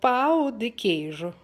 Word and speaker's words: pão de queijo: right will make uh the pow the Cajun um please correct me if I'm wrong hi Lisa my name is Giselle and the food is called Pao de cage let's make it and